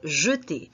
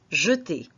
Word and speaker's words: jeter: Alors, nous avons ici le verbe jeter. Observez que la prononciation du premier E, c'est une prononciation fermée. On prononce jeter.